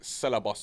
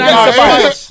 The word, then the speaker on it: Ceballos: Celebos, I think. Yeah. No one knows how to say his name. innit? Nah, his name is Celebos. No, his name is no. Even Ceballos. Ceballos.